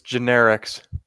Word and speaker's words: generics: Visits generics. generics? Generics. 2 syllables. What? Wait, no. Generic. Generics. No, 3 syllables.